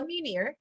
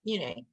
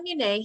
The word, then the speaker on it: Munier: Also, there was a fabulous article I read from my friend Paula Munier, or Munay. I'll say her name correctly. Paula Munay had just done an article.